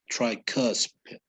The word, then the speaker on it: tricuspid: cusp right okay okay the u here the u right here that i'm pointing to is it does not sound o okay it's like between an u and an o it's like tricuspid try it yeah okay